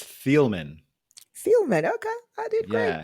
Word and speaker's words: Thieleman: pronounce your last name yeah you did great it's thielman Felman okay I did